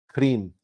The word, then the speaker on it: Krim: The mantra is Krim. And you elongate the R.